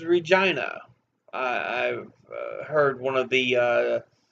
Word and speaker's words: Regina: is in Saskatoon um I used to call it Regina because I knew people named Regina with that same spelling and I'm like Regina but no apparently it is Regina I've heard one of